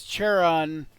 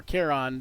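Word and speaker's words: Charon: So as as as Cheron or Keron depending on how you pronounce pronounce it yourself there uh as he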